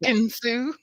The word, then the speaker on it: Ekin-Su: And what I saw was, God, how do you pronounce her name again, Jack? Ekin-Su. Ekin-Su. I'm sorry, I'm Southern. I can't really speak English. Think it's Southern. Think it's Southern. Ekin-Su.